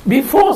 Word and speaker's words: before: Before tulisannya kan. Jangan dibaca R-nya. Before saja.